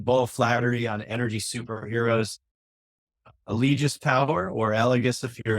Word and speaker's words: Allegis: Allegis is the US version. Elegis would be the European version.